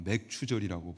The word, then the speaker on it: 맥추절: 아무튼 맥주 감사주일은 맥주를 마시는 날이 아니라 발음을 잘해야 되는데 보리맥에 추수할 추자. 그러니까 이스라엘 백성이 약속의 땅 가나안으로 입성해서 그때가 보리를 거두는 시기였다. 그래서 그 수확을 하나님께 이제 드리는 그 의미에서 그 의미를 담아 맥추절이라고 부르고, 맥추절은 또 이름이 다른 이름들이 있어요.